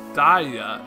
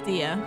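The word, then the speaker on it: Diya: but like diamond diamond it's even more like it if you say your name wrong like daya instead of Dee okay so her name is dia good to know I'm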